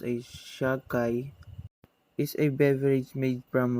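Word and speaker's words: sake: made from grapes at all in japan sheikh pronounced a shahkai is a beverage made from rice referred to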